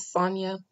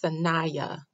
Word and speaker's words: Saniyya: pronunciation um i think i heard somebody else pronounce it sonia and so i thought that was the way it was pronounced even though i felt it was sanaya so to set the record straight her name